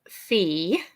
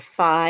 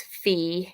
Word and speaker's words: phi: also like this one this is fee or Phi you may have heard it but it's fee in Greek makes the sound so